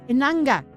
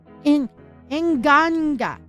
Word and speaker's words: Inganga: Yeah, Inanga. Inganga. Okay, Inganga. Okay, that's why I felt like I was saying it wrong.